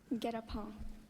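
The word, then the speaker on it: guet-apens: Oh, it wasn't pronounced right. That's why I got it wrong. Get a paw.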